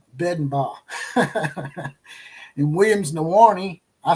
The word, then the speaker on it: Bedenbaugh: Like I said, instead of Bill Bedenbow, I'll say Bedenbaugh.